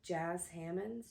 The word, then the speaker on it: Jas Hammonds: Author is Jas Hammonds. Jas Hammonds. It sounded like they said jazz when I watched an interview with her, but it's spelled Jas Hammonds.